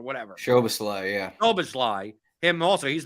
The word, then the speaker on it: Szoboszlai: 4, because you also have Dominic, however you pronounce, Solomzai, whatever. Szoboszlai, yeah.